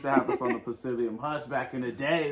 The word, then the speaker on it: psyllium: beans, eggplants and okra, psyllium. You've probably seen like psyllium husk. spelled psyllium. The P is silent.